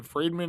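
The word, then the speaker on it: Fridman: All right, so I want to give a shout out to the Lex Friedman, Friedman is how you say it, podcast.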